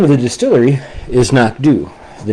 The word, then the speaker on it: Knockdhu: The Anoch, uh, a single malt Highland single malt scotch whiskey is produced by a distillery called Knockdu.